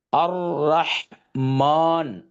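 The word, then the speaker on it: الرحمن: அ, இந்த லாமை இங்கே சைலண்ட் பண்ணியிருக்கேன், ஏன்னா இதை நம்ம இங்கே ப்ரனவுன்ஸ் பண்ண மாட்டோம். அர், இதுக்கு சுக்குன்னு சொல்லுவோம். அர் ரா, அர் ர, ரஹ், அர் ரஹ்மான், அர் ரஹ்மான்.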